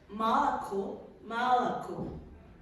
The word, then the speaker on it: молоко: word that it means молоко. In English will be milk. So it is right with 3 O. However, the two first one are pronounced like an A. And the last one is hello, obviously.